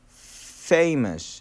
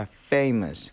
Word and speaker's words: famous: 그런데 피읍 발음인데 이 F는 여러분 그 앞니가 그 아랫입술을 약간 긁듯이 해서 famous 이렇게 되는 거고요. famous 그렇게 되는 거죠.